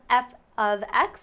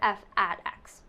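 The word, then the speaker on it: f(x): could be h but this is pronounced f of x or f at x okay it takes in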